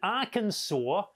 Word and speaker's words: Arkansas: In Arkansas, it's against the law to mispronounce the name of the state, Arkansas.